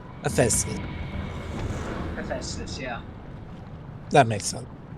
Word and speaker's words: Hephaestus: Okay, it's pronounced Hephaestus. Hephaestus.